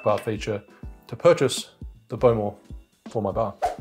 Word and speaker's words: Bowmore: Not overly smoky, not overly peaty, given that we're using the Bowmore, which is Bowmore, however you want to pronounce it.